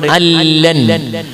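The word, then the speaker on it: أَلَّا: അതിന് ഉദാഹരണം ഇവിടെ ഉണ്ട്, അല്ലൻ അൻ ലാ എന്നുള്ളത് ഉച്ചരിക്കുമ്പോ നൂന് കേൾക്കൂല, നൂനില്ല തന്നെ ചിത്രത്തിൽ ഉണ്ടാവൂല. നൂനിന് പകരം നൂനിനെ ലാമാക്കി മാറ്റി ലാമിന് ലാമിൽ ഇതാം ചെയ്യും. അപ്പൊ അല്ല എന്നായി മാറും, അതിന് ഇതാം വിലാ ഉന്നാന്ന് പറയും.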